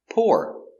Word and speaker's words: poor: poor is an adjective poor the man is not rich he is poor or poor poor poor pour the water into the glass same pronunciation or pour pour the water